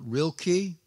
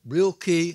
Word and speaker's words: Rilke: the german poet rilke sometimes called real key i've heard it said called real ki and heard him called rilka his elegies i'll try